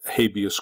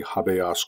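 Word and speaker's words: habeas: as you know um habius Corpus which should really be pronounced correctly habas Corpus um is that you may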